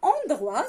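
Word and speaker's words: endroit: دونك عندنا اندغوا سافو دير بلاص يعني مكان. اندغوا مكان. كيفاش كتكتب اندغوا؟ او ان دي ار او اي تي. تي ما كتنطقش حيت ما كايناش معاها الدعامه اللي غتخليها تنطق، واللي هي ان شاء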